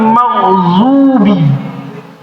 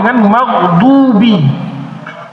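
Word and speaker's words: مغضوبِ: Siratalladina anamta alaihim ghairil magzubi. Ini fatal magzubi. Pakai d magdubi.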